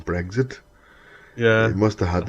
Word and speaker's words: Brexit: It is Brexit. Oh God. Not breakfast.